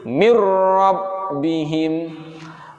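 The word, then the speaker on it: مِن رَّبِّهِم: Ya, yang awalnya cara bacanya adalah min rabbihim, Nah, karena ini merupakan idgham bila gunnah, maka harus dimasukkan bunyi nun matinya kepada ro, kemudian tidak disertai dengan dengung, menjadi mirrabbihim, mirrabbihim, mirrabbihim.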